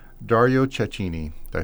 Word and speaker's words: Cecchini: listener, you may have heard the name Dario Cecchini. Did I say it right? Cecchini? Dario Cecchini.